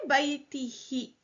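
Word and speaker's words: بَيْتِهِ: The who becomes he for ease of pronunciation because the preposition min made baiti majroor, so we say baitihi.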